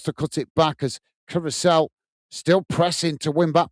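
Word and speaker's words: Curaçao: Matt is saying Curacao rhymes with Duracell, and Mr.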